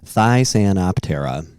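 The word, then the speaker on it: Thysanoptera: Oh, it had the pronunciation after it. Wow. Thysantoptera.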